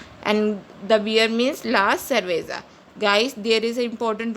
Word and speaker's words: cerveza: And if C is used with U, O and A, it is pronounced as K, just like cuchara. Here C is used with U, so it is pronounced as cuchara, which means the spoon in Spanish. Here C is used with E, it is pronounced as cerveza, which means the beer in Spanish.